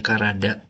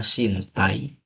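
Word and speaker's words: 身体: Tapi kalau udah jadi kayak gini itu cara bacanya bisa sintai. Bisa juga karada tergantung konteksnya entar. Hanya saja kalau di Kaigo itu tuh cara bacanya Karada umumnya kayak gitu.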